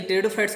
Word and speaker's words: टेरिडोफाइट: तो एम्फीबिया, तो ये टेरिडोफाइट्स को कहते हैं बेटा, याद रखना। पी साइलेंट रहता है टेरिडोफाइट में।